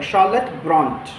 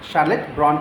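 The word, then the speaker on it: Charlotte Brontë: तो शार न करके शाह हो जाएगा, शार्लेट ब्रॉन्ट, शार्लेट ब्रॉन्ट। अमेरिकन में जाएंगे तो र का उच्चारण होगा।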